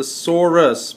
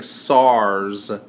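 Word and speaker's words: Saurus: carrying Spears SARS okay I'm going to need you to pronounce the sorus because you still are saying SARS like the the disease thanks I'm just want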